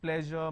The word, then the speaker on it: pleasure: is for sure enjoy we don't have any word that starts with a azure sound but we have pleasure measure ted treasure all these word uh where the sound is in the middle and then we have beige where the sound is in